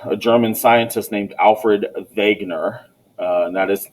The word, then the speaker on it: Wegener: but in 1911 a german scientist named alfred wegener and that is how you pronounce it wagner was browsing through some scientific papers in the